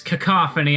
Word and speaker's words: cacophony: endless cacophony that's right I know how to pronounce the word you can all stop frickin messaging me it it's cacophony I know it's been